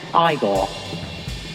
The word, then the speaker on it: Igor: You must be Igor. No, it's pronounced Igor.